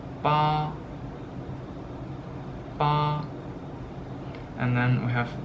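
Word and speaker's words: 八: It's pronounced ba, ba.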